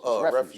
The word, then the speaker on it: refuse: Refuse, right?